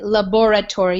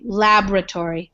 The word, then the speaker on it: laboratory: don't have to say laboratory you might have heard that some people say it like that but we kind of eat the O and we just say laboratory so you don't even